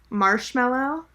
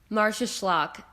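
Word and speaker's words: Marsaxlokk: And I'm wondering, the town that they call Marshmallow, and you said yes, that's exactly how Americans would pronounce it. Yeah. Yeah. What's it actually called? Marcia Schlock. And I'm saying that with a little bit of like an American accent too.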